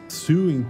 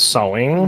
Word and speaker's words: sewing: Suing teacher. Actually, it's pronounced sewing.